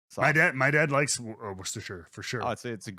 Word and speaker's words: Worcestershire: going to lancaster religion wait how do you pronounce the sauce that is lean parents that is what oh it is worcestershire yeah see that's got it yeah right that's yeah worcestershire oh don't worry when i was like 10